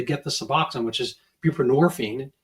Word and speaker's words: buprenorphine: they get the suboxone which is buprenorphine rhymes with morphine and it's basically a